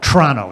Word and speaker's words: Toronto: up on lake ontario that city is called toronto you don't pronounce the first zero all right i'll defer